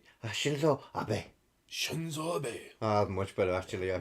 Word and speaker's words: Shinzo Abe: The assassination of Shinzo Abe. Oh, Now this was on Shinzo- July you're 2022. pronouncing that wrong. Shinzo Abe. Shinzo Abe.